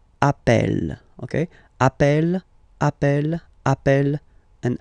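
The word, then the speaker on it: appelle: e really open that's the reason why you pronounce it Appel Appel okay Appel Appel Appel and Appel all right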